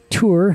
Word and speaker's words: Tours: know okay and then we came to tour here which is spelled tours and there's that tiny